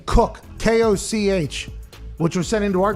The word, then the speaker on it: Koch: Koch would be the accurate way if you wanted to actually say that.